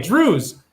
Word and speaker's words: Druze: By the way, Druze, D-R-U-Z-E, not Jews, but it rhymes with Jews, are big trouble.